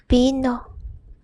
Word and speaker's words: vino: It's pronounced as E. Same pronunciation in the word E. E. For example, vino, which means wine.